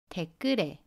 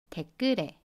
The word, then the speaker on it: 댓글에: Let’s look at ‘댓글에 (on the comment section).’ Firstly, let’s look at ‘댓.’ The final consonant ‘ㅅ’ is pronounced as the final consonant sound [ㄷ].